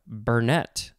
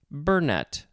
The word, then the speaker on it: burnet: speed next we have burnett or it could be burnett the emphasis could be on either syllable b-u-r-n-e-t noun from the